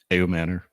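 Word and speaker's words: Ayomanor: Ayo Manor.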